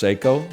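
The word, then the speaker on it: Seiko: a psycho cocktail time you might say it's pronounced seyo not when I wear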